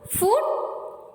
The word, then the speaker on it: food: The letter group OOD is mostly pronounced with a sharp U. Exceptions are brood, food and mood.